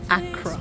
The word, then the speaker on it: Accra: Accra.